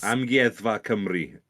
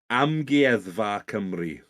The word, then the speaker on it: Amgueddfa Cymru: Amgueddfa Cymru.